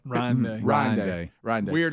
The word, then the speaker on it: Ryan Day: By the way, did you know cuz I, you know, is it Brian Day? Is that how you say his name? Ryan Day.